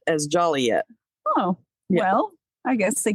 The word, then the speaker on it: Joliet: it because I'm going to say it wrong Joliet as Joliet oh well I guess they got sick of people mispronouncing yeah um in Kennelworth a rooster Must